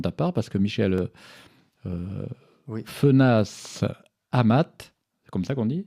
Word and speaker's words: Fenasse-Amat: nouvelle composition de ta part, parce que Michel Fenas Amat, c'est comme ça qu'on dit, oui, on prononce.